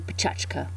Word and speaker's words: Pecha Kucha: They're Japanese and actually if I was pronouncing them more properly, it would be pachka.